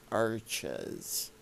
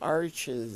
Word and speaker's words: Arches: ash oil painting paper it's not pronounced arches like my name is right a nice soft sound well arches is pronounced in french that's how you say it in french they're a french company